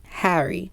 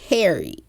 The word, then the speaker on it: Harry: side note real quick why does the name Harry only sound good with a British accent like the air in the beginning Harry Americans pronounce it way too hard it's like Harry like girl uhuh do